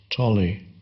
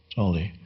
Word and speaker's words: Tolle: My last name is, usually I use an anglicized form of pronunciation, which is Tolle. Tolle. In the original German, the O should have two dots on top, called umlaut, which changes. Now I'm giving a talk on the O without the two dots is